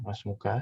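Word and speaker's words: ما اسمك: semoga Thomas muka ya Mas muka siapa namamu dengan tulisannya Ma ismuka aslinya aslinya Ma ismuka cuman karena ini Hamzah washal bacanya langsung masmuka Siapa nama Hai inilah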